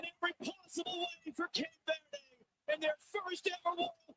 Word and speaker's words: Cape Verde: the only Dan Manucci, corrected everybody on the pronunciation of Cape Verde. Verde. It is not Verde. It is Verde, and guess what?